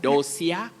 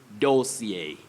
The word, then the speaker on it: dossier: common word locally but many people talk of dosia and some say dos area that is wrong we're talking about a collection of important or crucial information about or on money or something don't talk over those here or dosia you say dossier dossier or dossier the dossier to compile dossier not nausea or dosia that is